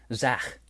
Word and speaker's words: Zach: It's Zach. If you almost know what I'm saying, it's Zach. Zach. But I'm a big like pronunciation grammar guy. You got to get it all right, and this inspires that. It pushes America forward. You got to be able to pronounce the. It's in the back of the throat here, right here in this area.